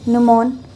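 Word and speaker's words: gnomon: फिर उसके बाद ये जो है इसे गमोन निमोन कहते थे। न्यूमॉन। ठीक है? और इसमें जी जो है वो साइलेंट है।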